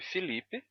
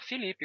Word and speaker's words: Felipe: i para e e você pode escrever com e e pronunciar Felipe com i mesmo já que o português isso é muito comum em português que um e átono seja pronunciado como I Então s S variações